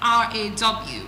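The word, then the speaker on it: roar: So it has this pronunciation with R A W. Raw.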